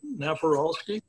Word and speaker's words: Napieralski: If you want me to spell his name after I'm done pronouncing, I'll be more than glad to do so. His name is Eric Naparalski.